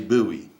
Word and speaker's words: Bowie: to be buoy Bowie Bowie I think is like the French way to say it and he and and